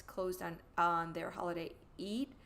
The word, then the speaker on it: Eid: It's so ironic that a bodega that is operated by Muslims, I know that because it's closed on their holiday Eid, I believe is pronounced.